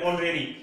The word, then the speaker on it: honorary: जैसे एक वर्ड लिया मैंने ऑनरेरी, एक वर्ड और लिख रहा हूं यहाँ पे HONORARY, ठीक है। ये भी देखो एच साइलेंट रहेगा, फिर ओ आ जाएगा,